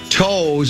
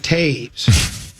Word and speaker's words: Toews: This one says, Common, it's not Toews, it's pronounced Taves.